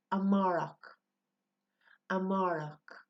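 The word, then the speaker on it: amárach: The Irish for tomorrow is amarach, amarach.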